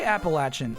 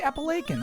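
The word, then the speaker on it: Appalachian: No, I don't say appalachin. I don't get that. I say appilaken.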